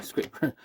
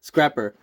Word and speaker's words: Scrapper: So I'm sorry, Scraper. I'm starting to say it like I heard this one guy say it. Scrapper. Sorry, here he is next to Scrapper, right?